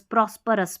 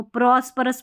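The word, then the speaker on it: prosperous: ओ यू एस रस प्रोस्पोरस। प्रोस्परस इसको समृद्ध। ठीक है? समृद्ध हो जाए। सभी कुछ सभी कुछ हो उसके पास। तो प्रोस्पोरस बोलते हैं इसको। प्रोस्पिरस नहीं बोला। प्रोस्पोरस।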